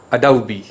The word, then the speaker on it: adobe: facade next word adobe mostly we mispronounce this word as adobe adobe photoshop it is not a do it's adobe adobe next word a claw